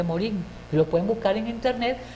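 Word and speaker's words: Morin: este libro es de Edgar Morán, se escribe Morín.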